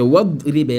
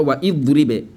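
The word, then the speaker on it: واضرب: Tu donnes wadribe. Dans la sourate Yasin, beaucoup de gens disent wa idribe lahum mathalan. C'est wadribe lahum. Wadribe. C'est pas wa idribe.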